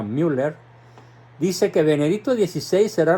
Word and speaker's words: Müller: alemán cardenal Gerard Müller se escribe mu doble R con diéresis en la u por eso se pronuncia Müller dice que Benedicto 16